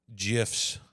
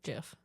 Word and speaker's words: GIF: The original pronunciation according to the creator with a soft G like the peanut butter brand GIF.